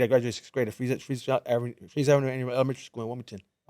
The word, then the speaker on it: Fries: You spell it F-R-I-E-S. Fries. So I always thought it was fries. Yeah, they spell it fries. But people are like, no, homie, it's Freeze.